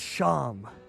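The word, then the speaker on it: Seam: The name Sham, pronounced Sham.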